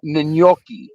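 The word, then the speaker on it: gnocchi: It's not nochi, it's n. Hold on a second. This stupid uh horn is going off here. It's a nyoki.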